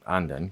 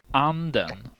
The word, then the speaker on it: anden: That's how the same word, anden, can mean the duck or the spirit, depending on whether you say it Anden. or Anden. This is why I always